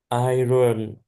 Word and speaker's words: iron: Iron. It's not pronounced like it's spelled iron.